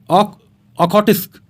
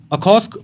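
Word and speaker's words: Okhotsk: आगे आता है नेक्स्ट सी ऑफ ओखोटिस्क। इसकी प्रोनाउंसिएशन ज़रा अजीब सी है, तो अखोस्क पढ़ना ही बेहतर है।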